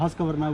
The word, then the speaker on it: Husqvarna: यह हुस्क वरना है। उसको प्रोनाउंस भी हुस्क वरना करते हैं ना कि हस्क वरना या हस्कवरना अगर मैं और कुछ लोगों को देखा वो हस्क वरना भी बोलते हैं।